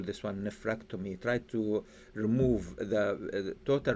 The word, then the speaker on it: nephrectomy: will be surgical removal of kidney and the pronunciation for the nephrectomy nephrectomy nephrectomy nephrectomy neomy okay let let me share with